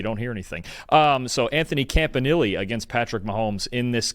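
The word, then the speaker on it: Anthony Campanile: It's Anthony Campanili. I've been saying it wrong before that, but I watched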